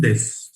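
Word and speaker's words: です: Watashiwa indojin desu. Again, this su is silent, u is silent, so pronunciation will be su.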